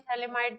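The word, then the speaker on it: phthalimide: पूछ लेते हैं गैब्रियल थले माइड रिशन करा चुके हैं पहले मेथड ऑफ प्रिपरेशन सेकंड हां सेकंड मेथड ऑफ प्रिपरेशन है गैब्रियल थलीमा इड रिएक्शन थैली माइड में पी साइलेंट है स्पेशलिटी क्या क्या है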